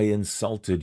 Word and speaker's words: insult: insult is a verb notice the second syllable for the verb is usually stressed i'm sorry if i insulted you the teacher didn't